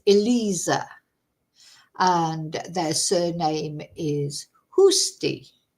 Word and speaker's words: Eliza: And then she explained to me how to pronounce uh cuz I was saying Eliza, probably. That's the Spanish pronunciation, but it's Eliza.